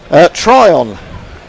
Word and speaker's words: Tryon: Tryon, is that how you pronounce her name?